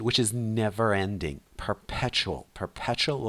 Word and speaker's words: perpetual: our perpetual distraction Our perpetual distraction. Our distraction, which is never ending. Perpetual. Perpetual with stress on the second syllable.